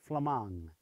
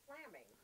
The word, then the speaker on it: Flammang: Luxembourg that's right over there they call it flemong we are familiar with the spelling of it because we have a street here but a lot of people pronounce it flaming yeah they always did right that's after me